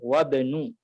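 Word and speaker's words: وابن: Jika ada kata sebelumnya maka untuk alif ya boleh dihilangkan. Jadi membacanya adalah wabnu ya.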